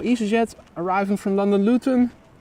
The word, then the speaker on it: Luton: jet arriving from London luten which is gluten without a g or Luton Luton proper pron pronunciation p in day triple